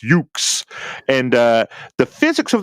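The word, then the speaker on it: Yuke's: for the Dreamcast uh from uh joinks if I'm saying it correctly General must say that correctly yukes yukes okay so it's yukes and uh the physics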